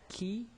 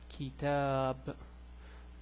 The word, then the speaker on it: كتاب: Okay, it will go like kitab. So you see, I just stretched out the ta, so I'm just kitab.